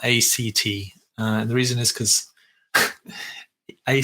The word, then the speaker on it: ACT: leaving living a purposeful life so what is act stand for X stands for acceptance and commitment therapy or acceptance or commitment training okay and it's pronounced at not a CT the reason is because a CT sounds very